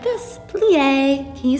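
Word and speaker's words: plié: learn we plie you say it like this plie can you say that plie then be jette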